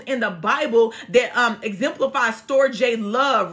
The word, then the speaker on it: storge: Then there's the storge love, storge, and that's spelled S-T-O-R-G-E.